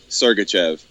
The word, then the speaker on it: Sergachev: I I believe so it's Chev yeah Mel sergachev and that's how you say it the only